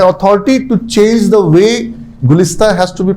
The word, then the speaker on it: Gulista: Gulista. क्या? My name is Gulista. गुलदस्ता? Gulista. Huh? Gulista. गुलदाउदी? Gulista. She wants her name to be pronounced correctly, yes or no?